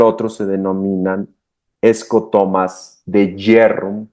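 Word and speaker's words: Bjerrum: de Jerrum, que se escribe b j e r u m y se pronuncia jerrum, que son los dos característicos asociados a glaucom.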